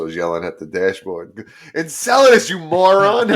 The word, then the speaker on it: Enceladus: is around Jupiter, and Enceladus, which we've been butchering the pronunciation of that for a few episodes, but that's how it's pronounced, Enceladus.